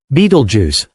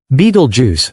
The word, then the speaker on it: Betelgeuse: Beetlejuice, one of the largest and most enigmatic stars visible from Earth, could explode in a supernova in as little as 2 weeks.